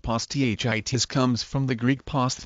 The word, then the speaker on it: posthitis: until the teen years the term poss Titus pronounced poss th itis comes from the Greek past meaning foreskin plus